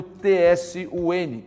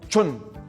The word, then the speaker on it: Tsun: Por isso que o patriarca Ip Man e seus discípulos optaram pelo TSUN, não para ser lido como Tsun, mas para ser lido como Chun, né?